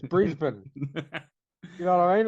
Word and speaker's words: Brisbane: actors that's a Melbourne it's not Melbourne it's Melbourne or Brisbane it's Brisbane you know what I